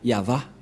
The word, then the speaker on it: Yahvah: invoque son nom avec Yahva. Nous allons voir ensemble cette écriture. Voilà. Voilà le Ya. Et pour la suite, c'est cette partie. Et ça se lit Yahva.